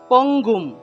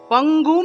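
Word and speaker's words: পঙ্গুং: অনুস্বার থাকলে মনে রাখতে হবে এটার সংস্কৃত উচ্চারণ হলো ম।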